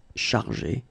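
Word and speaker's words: chargés: In both cases, you don't pronounce e and you don't pronounce s. So it will go like chargé, okay, for all the versions.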